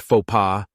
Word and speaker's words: faux pas: Luckily, part of their example of faux was a faux pas, pronounced faux pas, a term which I'd heard many times and